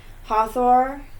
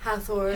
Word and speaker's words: Hathor: the love between the goddesses of ancient Egypt Hathor is how you say it Hawthorne's Hathor Hathor isis basta sac Matt I know that's